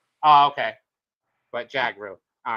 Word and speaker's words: Jhagroo: It's actually pretty simple. It's Jagar. Jagar. That's it. All right. It's like Django. Oh, okay. But Jagar.